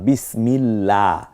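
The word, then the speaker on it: بسم الله: যেমন আল্লাহ আমি বলছি আবার বিসমিল্লাহ এখানে বিসমিল্লাহ ওই যে আল্লাহ শব্দের লামটাকে পাতলা করে পড়তেছি এইটা কেন প্রথমেই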